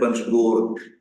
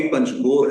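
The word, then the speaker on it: پنجگور: आपने मेरे से पूछा लफ्ज जो है वो वाकई पंजगोर है 5 कब्रों से गोर से और लेकिन उसे अब पंजगूर प्रोनाउंस किया जाता है हर जगह पे कहा जाता है तो फिर मैंने आपसे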